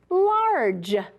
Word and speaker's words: large: Boy, you have to use all of your skills when we read words like this, right? You've got to remember about that soft G.